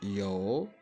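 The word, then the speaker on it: 有: L'auxiliaire avoir en chinois, c'est yo, yo, yo. Donc, je commence par prononcer le O et puis légèrement le OU qui est à la fin.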